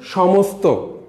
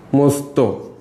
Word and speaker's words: সমস্ত: আমরা একটু উদাহরণ দেই, স নিচে ত দেই, এটা উচ্চারণ হচ্ছে সমস্ত, সমস্ত, এটা হচ্ছে উচ্চারিত বানান। খেয়াল করো প্রথম দন্ত্যস্ব, দন্ত্যস্ব উচ্চারণ কিন্তু তালব্যস হয়েছে, কিন্তু দন্ত্যস্বের সাথে যখন ত যুক্ত অবস্থা হয়েছে তখন সমস্ত, হ্যাঁ, সেখানে স উচ্চারণ হয়নি।